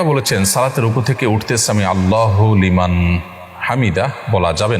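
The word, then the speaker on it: سمع الله لمن حمده: দেখুন, সামি আল্লাহু লিমান হামিদা এটি হলো শব্দের সঠিক উচ্চারণ। সামি আল্লাহু লিমান হামিদা, সামি আল্লাহ লিমান হামিদা এটা সঠিক উচ্চারণ নয়।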